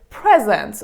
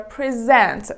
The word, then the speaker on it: present: give someone directions and another word that is so common is present or present as you know this